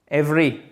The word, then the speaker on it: every: En fait, ce deuxième E, il ne se prononce même pas. Every.